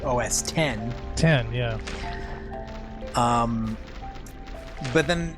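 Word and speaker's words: OS X: it as you know technically I think it was always supposed to be OS 10 10 yeah um but then they got up to OS 10 version 10 and now it's OS 10 10.10 and and it's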